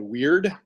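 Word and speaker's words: Wyrd: big ones is a skill called weird and it's spelled w y r-d and what that does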